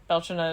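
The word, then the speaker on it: Bealtaine: Uh some people call it Beltain. Belchina is the Gaelic pronunciation and I'm going to go with that.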